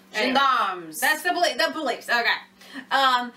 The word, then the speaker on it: gendarmes: Gendarmes? How do you say that? Where? This one, gerrymanders or something like that. Is that how you say it? Gendarmes.